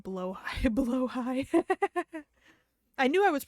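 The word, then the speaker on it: Blåhaj: One, fun fact, Blahaj is actually pronounced more like blowhigh.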